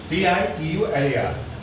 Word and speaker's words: titular: T-I-T-U-L-A-R. Write the word in the dictionary. What's the pronunciation? Titular. What it is? The tie becomes titular. Why? So here see titular. Titular. It becomes close one.